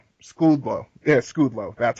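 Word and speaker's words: Szczudlo: So that comes down to either William O'Connell, Arnie Sweekle, or Andrew Goldhawk, or Tony, oh God, I can't even pronounce his name. Skudlow.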